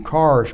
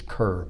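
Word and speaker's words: Kerr: the name changed to cars creek that's spelled with a k k e r or you think it's curve but it's car that just happens to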